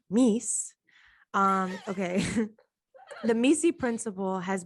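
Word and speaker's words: MECE: So it's like pronounced by many as Misi and pronounced by the author as Mies.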